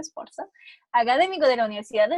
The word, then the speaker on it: Sforza: Este trabajo del profesor Cavalli Sforza, voy a subir que se pronuncia Sforza, académico de la Universidad de Stanford, es una